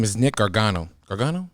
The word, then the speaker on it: Gargano: Gargano? Gargano.